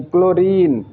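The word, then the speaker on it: chlorine: तो फ्रेंड्स, इसका जो चौथा रूल होता है वो ये है कि जब किसी वर्ड में सी एच आए और सी एच के बाद एल आए तो सी एच को क से पढ़ते हैं।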